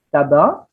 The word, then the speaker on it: tabac: Sama juga ketika Anda melafalkan kata tabak, tembakau ya, tulisannya T-A-B-A-C. Tabak itu tidak diomongi tabak, tidak ya, tabak.